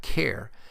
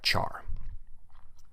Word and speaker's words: char: is the type Char you may hear people pronounce it as type care since it is short for character but I've always pronounced it as the type Char and the last primitive